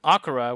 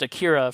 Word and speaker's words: Akira: like tetsuo exploding in akara which is mispronounced akira for like 25 years in the united states whatever but anyway um